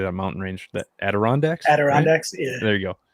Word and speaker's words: Adirondacks: how do you say that mountain range that adirondacks adirondacks yeah there you go i can never